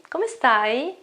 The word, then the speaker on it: come stai: much chalk I'm sorry come stai come stai it's not chuckle sigh it's come stai look at my eyes not come stai it is come stai okay you have to